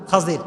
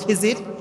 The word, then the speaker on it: খাজির: খাজির। আমরা বলি খিজির, তবে এটার আসল উচ্চারণ হচ্ছে খাজির। উচ্চারণটা আসলে কি?